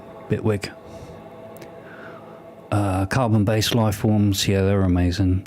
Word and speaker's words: Bitwig: I don't pronounce the T, I say it with a very crappy British accent. Bitwig.